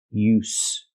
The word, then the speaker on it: use: S, use. So again, use with a vibration is the verb, and use with no vibration is the noun.